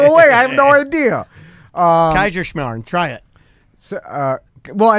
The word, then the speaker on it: Kaiserschmarrn: Kaiserschmarrn. Try it. So, well, I know. Yeah. But Say Kaiser and then Schmarn.